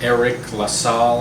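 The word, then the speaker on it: Eriq La Salle: on jacob's platoon uh eric lassall i believe is how you pronounce his name he's another one of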